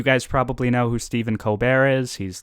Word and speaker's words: Colbert: moment with him because he goes by stephen colbert but apparently when he was younger he went by steve colbert which is you know the same name just not pronounced in a french way but i have like